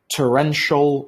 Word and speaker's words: torrential: Torrential rain. This is pronounced as shol.